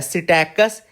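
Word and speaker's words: Psittacus: African grey parrot का नाम देखो, साइंटिफिक नेम है सिटैकस एरिथेकस। सिटैकस एरिथेकस, ये पी साइलेंट होता है ना।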